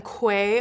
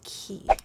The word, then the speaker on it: Quay: I always called them QUAY Australia. It's actually pronounced Key.